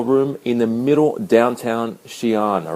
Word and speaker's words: Xi'an: Today I'm in Xi'an, or Xi'an as it's pronounced, and it's the home of the Terracotta Warriors.